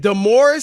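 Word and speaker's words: DeMaurice: this morris d-u-m-b-o-r-i-s-s now his name is spelled d-e maurice it's the morris but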